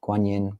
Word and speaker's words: Guanyin: Um so guan is the Chinese pronunciation of avalokeshwara. Um guin is the shortened form. Uh it's the Chinese words um guin both first tone uh for the longer name uh data guanimus.